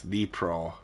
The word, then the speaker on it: Dnipro: Also, I was saying Dnipro wrong. It's Dnipro River.